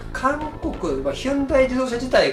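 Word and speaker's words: Hyundai: 楽しい一応 v 韓国ヒュンダイどうせ自体が何年か前に名前の表記をあの実際に発音近いものに習得でヒョンデに書いてたんでねそれ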